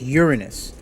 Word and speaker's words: Uranus: mean the planet uranus actually the planet's name is pronounced uranus let me tell you